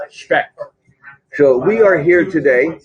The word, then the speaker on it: Specht: It's a good German name. Specht.